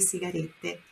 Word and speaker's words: sigarette: Por outro lado, sigarette tem dois T's no final. Sigarette. Então, é aquela meia pronúncia, né? Dá aquela forçadinha nesse final aqui, ó. T. Sigarette. Sigarette. Tá? Senão seria sigarette.